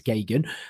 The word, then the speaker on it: Geoghegan: It's Gagan, but it sounds easy to spell, but it isn't. It's Geoghegan.